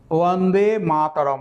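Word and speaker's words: वन्दे मातरम्: মনে পড়ল সেটা হচ্ছে উচ্চারণটা হচ্ছে বন্দে মাতারম আমি উচ্চারণটা সঠিকভাবে সংস্কৃত উচ্চারণ করছি খেয়াল করুন বন্দে মাতারম প্রত্যেকটা অ আমি সঠিকভাবে উচ্চারণ করলাম এইবার হিন্দিতে কিভাবে উচ্চারণটা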